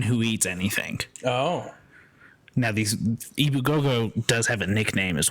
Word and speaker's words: Ebu Gogo: It's just phonetically spelled the same way. Ibu Gogo, EBU space Gogo.